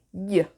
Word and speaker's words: gli: Mi raccomando, attenzione alla pronuncia, gli. GL si legge gli.